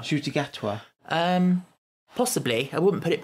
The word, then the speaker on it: Ncuti Gatwa: Because we're now on, Ncuti Gatwa's going to be the 15th, which is obviously more than it should be.